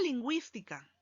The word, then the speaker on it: lingüística: encima de la uv se llama diéresis y nos indica que la uv se pronuncia por lo tanto iu y vocales cerradas diferentes y forman una sola sílaba link guys y acá